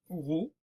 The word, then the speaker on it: rho: Ce symbole se prononce rho en lettres grecques.